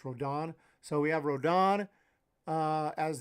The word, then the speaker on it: Rodón: I always say when I say Rodón, so excuse me if I say it like that, but it's got an accent mark and I just pronounce it in Spanish. But people tell me it's Rodón.